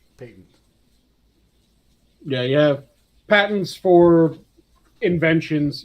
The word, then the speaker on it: patent: well thank goodness for that that one is pronounced patent peyton yeah yeah patents for inventions you have patent